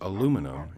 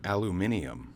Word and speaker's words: aluminum: And also remember, it's pronounced aluminum and not aluminium, as it was America that discovered aluminum and not the English.